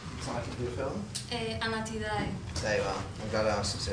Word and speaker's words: Anatidae: How do you pronounce the title of your film? Anatidae.